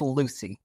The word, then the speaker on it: Lewsey: sure I didn't butcher it yeah it's it's Lucy Lucy okay that would have been easy could have like Lucy Lucy Ball like Lucy I got you okay